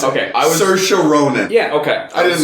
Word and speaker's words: Saoirse: Charlize Theron from Bombshell, Scarlett Johansson from Marriage Story, Saoirse. That's how you pronounce it. Okay, Saoirse Ronan.